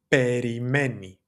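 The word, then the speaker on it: περιμένει: That would be perimei. Perimei spelled like this. Perimei having that e sound at the very end to refer back to he, she, it, right?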